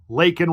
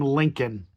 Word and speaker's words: Laken: Democrats wearing the button Lake and Riley he pronounced her name Lincoln Lincoln he didn't get George